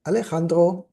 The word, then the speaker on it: Alejandro: Alejandro or Alessandro, depends if you want to pronounce it Spanish or Italian, as he was an